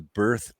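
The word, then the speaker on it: Bearth: Uh well, I wrote a book series called the BERTH Trilogy. It's spelled b e a r t h. So, it's kind of a play on words.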